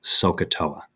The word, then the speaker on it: SOHCAHTOA: of one of these three new trig functions sohcahtoa that's how we say it okay now if